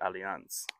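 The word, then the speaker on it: Allianz: the world and um I believe they pronounce it aliance but anyway um yeah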